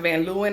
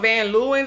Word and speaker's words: Van Leeuwen: I thought it was Van Leeuwen, but based on the website, they're pronounced Van Leeuwen, I believe.